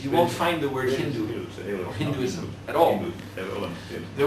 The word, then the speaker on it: Hindu: And in their language, they pronounced S with the H sound. So they called this river the Hindu River instead of the Sindhu River.